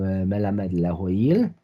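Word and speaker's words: מלמד להועיל: in his responsa collection Melamed Lahoil. Here, Rabbi Schmelzer employs the modern Israeli pronunciation in transcribing the type of the responsa collection.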